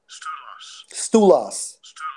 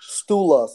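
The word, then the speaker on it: στῦλος: pillars in a Greek it Strong's G 4769 pronounced as stool us stool us okay so when we get to the point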